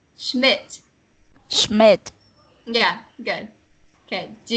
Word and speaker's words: Schmidt: For Satuith, I would say you had a bit of trouble with Schmidt. You read it like Smith. It sounds like Smith when you read it. I'm not sure if that's just how I heard it, but it's Schmidt.